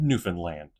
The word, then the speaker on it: Newfoundland: Understand Newfanland. Simple. An easy way to remember how to pronounce the last section of the province Newfoundland.